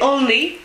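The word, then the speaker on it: Olney: euh vous allez sur Internet et vous tapez onne donc onne c'est le nom d'une ville anglaise ça s'écrit comment o l n e y voilà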